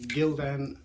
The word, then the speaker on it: Gildan: and the t-shirt itself is one of the Gildan t-shirts and that's how you pronounce it and it's decent quality it's not